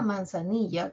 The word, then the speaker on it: manzanilla: Una de las vocales tiene mayor intensidad, ¿no? Manzanilla. Ni tiene más intensidad que las otras 4 vocales, ¿no?